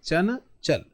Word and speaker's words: चंचल: चल तो च के बाद आपको जो अनुस्वार की ध्वनि सुनाई दे रही है। चन चल क्लियर है?